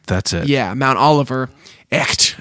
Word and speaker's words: Echt: Echt, I think is how you say it. It's German.